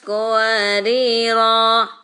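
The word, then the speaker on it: قواريرا: Jadi bacanya kalau berhenti di qawariro yang pertama. Kanat qawarira.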